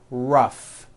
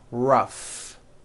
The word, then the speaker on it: rough: And the last word, rough. Notice the GH combination in that word, rough.